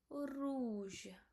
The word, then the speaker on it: rouge: So R O U. It become rouge.